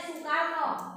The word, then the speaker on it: Soekarno: Soe itu tulisan zaman dulu. Soekarno bacanya Soekarno. Soepomo bacanya Supomo. Jadi kalian sudah ingat toh 3 tokoh perumus dasar negara itu seperti kalian sebutkan tadi.